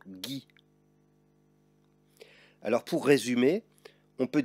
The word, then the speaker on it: Guy: Dans ce cas, il faut intercaler un U entre le G et le E, le I ou le Y. Voici quelques exemples. Une bague, une guêpe, peu importe que le E porte un accent. Une guitare ou encore le prénom Guy.